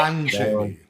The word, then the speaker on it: Lon Chaney: Lon Chaney. Lon Chaney. Okay. Well, his silent film of the same name, a desperate